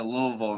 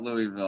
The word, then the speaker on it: Louisville: story and first off notice i said louisville not louisville i feel like people